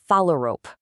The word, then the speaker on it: phalarope: It's pronounced phalarope. That last part is just like a rope you'd tie a knot with.